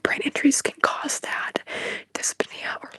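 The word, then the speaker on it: dyspnea: to say it wrong dispia dispia is how you say it or it's slow breathing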